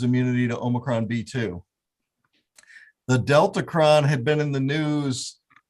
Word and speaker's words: Deltacron: That is it, if I'm saying it right, the Deltacron.